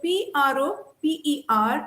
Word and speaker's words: proper: So PROPER is pronounced proper because in English, the final R is silent.